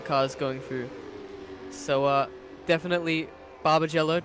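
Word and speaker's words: Barbagallo: So definitely Barbagello, did I say it right? Barbagello. Barbagello, alright. Barbagello.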